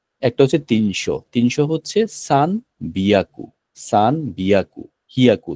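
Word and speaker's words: 千: সান বলব আমরা আমরা 1000 কে বলব যে শুধুমাত্র সেই ইসন বলবো না আমরা শুধুমাত্র সেন বলব আমরা শুধুমাত্র কি বলব সান বলব ইসান বলব না ইসন শব্দটা অড শোনায় জাপানিজরা এটা শুনলে ওরা হাসে ইসন বলা যাবে না হচ্ছে শুধুমাত্র বলব সে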